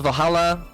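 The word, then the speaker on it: VA-11 Hall-A: Okay, this game is called Valhalla like like it's written like this because it's uh the VA 11 building hall A, right? But it's it's spelled as Valhalla. So it's the Valhalla bar.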